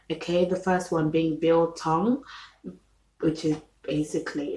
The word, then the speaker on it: biltong: you should try okay the first one being bill tong which is basically it's about b-i-l-t-o-n-g bill tong